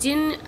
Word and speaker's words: jinn: जिन means pronounced jinn, variously spelled as jinn, jinni, jinni, a spirit that has strange powers and can assume any form, human or animal.